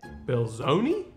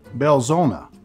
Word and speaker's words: Belzoni: - Belzoni? - Belzona. - Belzona. The I is really an 'A' in pronunciation.